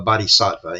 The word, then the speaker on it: bodhisattva: Jayararmman II insisted that he was a bodyva if you remember that term a bodyva in in English we spell it b o d h i s a tt va right and that's a Buddhist saint.